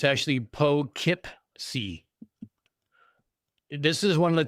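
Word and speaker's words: Poughkeepsie: It's actually Po Kipc.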